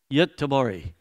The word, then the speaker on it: Göteborg: Göteborg.